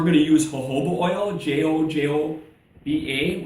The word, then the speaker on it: jojoba: We're going to use jojoba oil, Jojoba, which is pronounced jojoba oil.